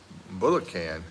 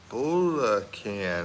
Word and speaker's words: Bulacan: It's Bulacan, and you said it right. Oh, it's Bulacan.